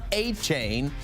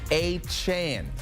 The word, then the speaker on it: Achane: of his last name it's not a chain but it's a Chan okay the story day